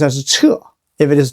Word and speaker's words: 屮: Pronounced as 彻.